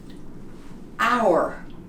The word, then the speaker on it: hour: The H is silent. Hour, herb.